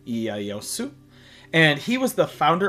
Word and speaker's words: Ieyasu: Next, we have, in English, Tokugawa Ieyasu, and that is how it is pronounced also in Japanese, is Tokugawa Ieyasu.